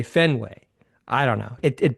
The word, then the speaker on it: Fenway: and it's it's almost like you have to think harder to to pronounce it that way. It's an intentional thing because you should naturally just say Fenway.